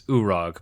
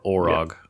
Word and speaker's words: Orog: Um and I have spent my entire life pronouncing this urug but I don't think that's accurate so we're going to go with Urug or Orug.